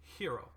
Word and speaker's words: gyro: He pronounces it gyro, or he spells it gyro, but he does say hero.